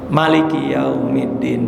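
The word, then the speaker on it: ملك يوم الدين: Maliki Yaumiddin, mimnya pendek aja. Maliki Yaumiddin, jangan disalahin. Bener.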